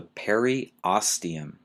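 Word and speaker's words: periosteum: this one might be a little hard to pronounce is the per oium p e r i o s t e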